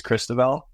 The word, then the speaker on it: Cristoval: get older um and my real name is Christel and I don't think a lot of the kids could pronounce that on the ice so as I